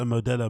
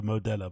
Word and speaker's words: Modelo: modella you know like I've literally never heard anybody pronounce a Modelo modella but hey it kind